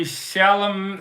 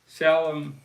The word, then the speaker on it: Chalamet: Talked about Bob Dylan, Timothy Chalamet. How do you say his name? Chalamet.